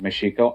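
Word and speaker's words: México: Father prepared for Cortez it's pronounced meshiko I'm not going to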